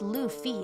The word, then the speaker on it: Luffy: In my favorite TV show One Piece, a boy named Luffy, pronounced Luffy, and then I spelled it incorrectly, sets out to become king of the pirates due to a childhood dream.